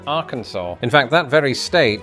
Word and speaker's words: Arkansas: Famously, this is also true of the final letter in Arkansas.